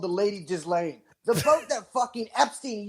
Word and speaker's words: Ghislaine: It's Ghislaine, but it sounds better to say Ghislaine.